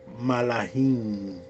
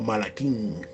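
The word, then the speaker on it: מלאכים: mensajero, y ahí aparece la palabra malahim o malaquín, como algunos los pronuncian, que normalmente se traduce como ángeles.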